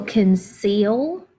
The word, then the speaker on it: conceal: I will conceal my feelings and decide what is best. All right, capital I. I will. Now, here's one that's got that soft C.